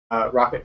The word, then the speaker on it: rkt: like tar and them it's shortened to rkt so it's three letters but it's pronounced rocket and the idea is